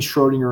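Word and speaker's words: Schrödinger: quarter German but I still don't feel comfortable pronouncing the om wat something between Schrodinger and Trainer depends on who you talk to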